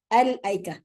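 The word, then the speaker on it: الأيكة: Okay, al-aika. The way that it's written is different, but how you pronounce it, if you continue or you stop, is the same.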